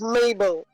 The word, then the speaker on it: Mabel: gonna start writing down my name is mabel it rhymes with tables okay okay as corbin